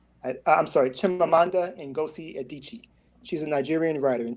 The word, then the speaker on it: Adichie: There was a Nigerian writer, I can't pronounce the name. I think her name was Ngozi Ndichie. I'm sorry, Chimamanda Ngozi Adichie.